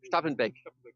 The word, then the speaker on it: Stappenbeck: Also neben mir ist Jochen Stappenbeck, habe ich den Namen richtig ausgesprochen? Stappenbeck.